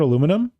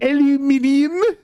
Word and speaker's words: aluminium: Oh, we're talking about aluminum? Wrong. Well, aluminium.